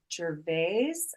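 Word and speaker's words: Gervais: his name is Dr Michael Jes I think it's how you say it I it's g r v i s I haven't gotten the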